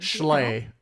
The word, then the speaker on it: Schley: rolled Mike Schley slay how do you pronounce his last name slay it's like it's like schlong only not that hmm I heard your